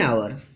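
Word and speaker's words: hour: एन आवर यहाँ H silent है, इसलिए यहाँ एन आवर लगा.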